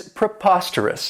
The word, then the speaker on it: preposterous: I really like is preposterous and this adjective has four syllables and the stress is on that second syllable put a posture Russ and remember that owe us has that schwa that a sound and this means that